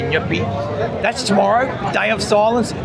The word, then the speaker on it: Nyepi: And you got to pronounce it like that. You can't say nep. say nippy.